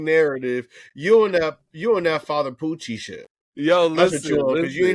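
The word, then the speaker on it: Pucci: It's Poochie. It's Father Poochie.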